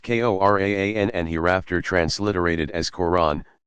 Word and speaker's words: Quran: His sole miracle was the Quran, pronounced Koran and hereafter transliterated as Quran, the Muslim sacred scripture.